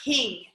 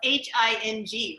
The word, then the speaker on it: hing: would use kingshak or hing so king is another spice that um again